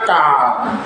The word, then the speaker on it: car: C A R car tulisannya tapi membacanya K ya agak mirip C-nya dibaca dengan huruf K.